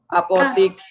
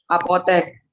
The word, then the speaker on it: apotek: Apotik, apotik yang E baku, yang pakai I tidak baku. Yang baku bacanya apa? Apotek.